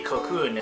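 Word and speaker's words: コクーン: Kakuna but in Japanese it's going to be more simply kocun and this is obviously going to be the English word cocon in Katakana Japanese so a lot of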